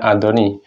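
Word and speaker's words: 았더니: Ini untuk kata kerja yang berakhiran vokal A atau O ya, menggunakan asdoni, bacanya adoni.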